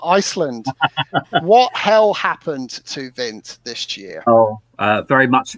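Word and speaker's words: Wind: So Vind, as it's pronounced, came second in 1985 and 1987, 2 times.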